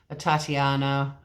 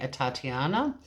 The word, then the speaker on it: Atatiana: because 28 year old Tatyana Jefferson it's spelt like Tatiana with an A at the front I listened to a couple of media conferences and they seem to be saying a Tatiana she was pronounced dead